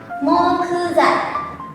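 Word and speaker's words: 木材: Jadinya mokuzai. Mokuzai. Nah, mokuzai ini artinya adalah kayu.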